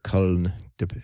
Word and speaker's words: Köln: unless it's actually produced in Cologne, Germany, or Köln. That's kind of actually how they pronounce it.